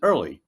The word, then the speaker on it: IRLI: That's IRLI, if you acronym, please. We pronounce it early because it's one of the first of its kind.